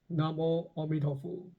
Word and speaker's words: Namo Amituofo: The monk praised her dedication, but corrected her by saying, "Oh, that's very good, but the mantra should be pronounced as Namo Amituofo."